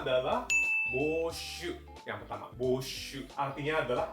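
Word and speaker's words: 募集: Bacanya adalah boshu.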